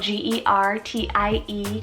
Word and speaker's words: Gertie: r-h-o-d-a rhoda this one means rose gertie spelt g-e-r-t-i-e gertie this one means strength of a spear